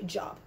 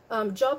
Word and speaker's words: Job: a y um but job is an american word so they pronounce it in the american english pronunciation so ich habe langavila